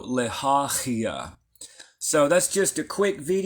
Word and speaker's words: Lehahiah: Sylvia says pronounce like the CH in Loch Ness. Yep, very similar. Yep, like a ch. So Lehahiah.